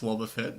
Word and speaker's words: Wobbuffet: It's pronounced Wobbuffet, okay.